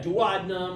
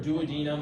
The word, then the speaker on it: duodenum: Yeah, duodenum or duodenum. I've heard it pronounced both ways.